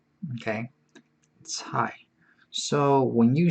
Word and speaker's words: 菜: It's a very hard to pronounce one. 菜 like T-S-A-I. 菜. Okay. 菜.